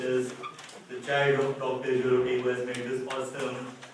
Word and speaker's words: Jugaadathon: And I really like so I'll take a couple of minutes, not too much, but I really like this Jugaadathon. Is that how you pronounce it?